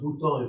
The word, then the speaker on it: bouton: Pronounced bouton in French.